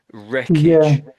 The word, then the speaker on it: wreckage: So the W is silent wreckage.